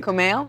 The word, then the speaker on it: Kumail: how do I pronounce your name it's pronounced a lot like it's written actually I read but then I was like if you're male yes that's right Kumail yes awesome that's the best anybody's pronounced it in a long time yeah so yeah I